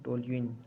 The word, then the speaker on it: टोल्यूइन: तो उसको बोलते हैं टोल्यूइन। ठीक है, कई लोग अलग अलग प्रोनाउंसिएशन करते हैं, मैं टोलिन बोलता हूँ।